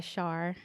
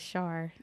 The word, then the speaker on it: Sharr: that's what you say rhymes with star so they can go by that as Char okay so um tell